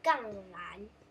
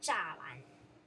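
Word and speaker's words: 栅栏: 然后杠栏有，不是，我一直喜欢把它念成杠栏，但是那个叫栅栏，但我们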